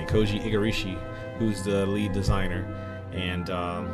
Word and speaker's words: Igarashi: He's the Igarashi, I think that's how you say it. Koji Igarashi, who's the lead designer and from Konami, formerly with Konami, developing Castlevania.